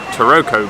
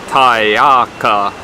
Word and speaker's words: Taroko: was because our plan to go to what is spelled taroko gorge that actually pronounced something like Thai our car Gorge it's just miles and miles away I've